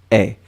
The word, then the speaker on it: aient: Faites attention pour le pluriel, AIENT, mais on prononce est.